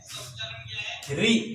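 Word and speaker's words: ऋ: ई उ ऊ री, इसका उच्चारण क्या है, री। जैसे तेलुगु में इस तरह होता है री, या हिंदी में इस तरह री होता है, इसका उच्चारण ये है ना, इसको रो नहीं कहना चाहिए, इसका उच्चारण सही री है।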